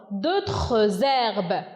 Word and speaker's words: d'autres herbes: Ici, on a fait, ou bien, voilà, on a fait de la liaison. D'autres herbes. Parce que on a une consonne et un H muet.